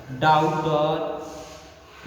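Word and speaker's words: daughter: जैसे फॉरेन, यहाँ पे एन के पहले जी दिया हुआ है, ठीक पहले, डिजाइन एन के पहले जी दिया हुआ है, डाउटर यहाँ पे आपको क्या दिया है, जी एच,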